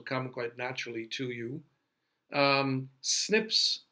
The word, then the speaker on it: SNPs: occurs in that 1% that is diverse snps pronounced snips is single nucleotide polymorphism and that's the common